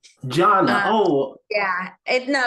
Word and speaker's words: Gianna: but it's actually pronounced Janna Janna oh yeah it no it's okay it happens it looks like Giana but um it's Italian I'm named after my